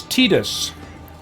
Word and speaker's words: Tidus: s t d s it's tetus tetus is the official pronunciation I'm like are you